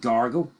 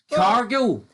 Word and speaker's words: Cargill: Why do you call her Jade Gargle every fucking time? By the way, that actually bothers me. Jade Gargle? Gargle? Cargill. Hold on, right? Not gargle.